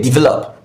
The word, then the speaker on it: develop: The correct option is option A, since it's a verb. Verb. That's where you have the stress syllable.